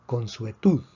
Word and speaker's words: consuetud: Esta palabra se pronuncia consuetud. También es una palabra aguda, lleva la fuerza en la última sílaba porque termina en una consonante que no es ni N ni S.